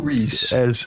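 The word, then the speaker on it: Rhys: And this is Rizz Ifans Reese. Reese. I looked it up. I know his actual pronunciation.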